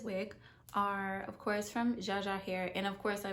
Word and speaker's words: Jaja: from zsa or yaya not too sure how to say it it's spelled j aja so we're gonna say jaja today um from amazon and